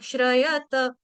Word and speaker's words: श्रयत: लेकिन यहां पे त को देखो त यहां पर पूरा है। त आधा नहीं है। तो कोई भी डिवोटी अ श्रयत श्रयत नहीं बोलेगा।